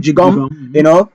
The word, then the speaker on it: Gqom: Jigom is spelled Gqom. I don't know. Some people call it Gum, some people call it Jigom.